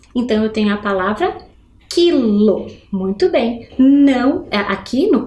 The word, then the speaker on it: quilo: formando um dígrafo Então eu tenho a palavra quilo muito bem não aqui no caso é um